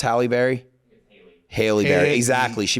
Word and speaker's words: Halle Berry: Haley Berry, exactly. She pronounced it Haley Berry, but then there's Halle Berry who spells it the exact same way.